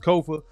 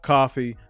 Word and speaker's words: Kofa: I am your humble host, Kofa, Kofa, not coffee, not, not Kofi, or any variation thereof. Kofa rhymes with sofa.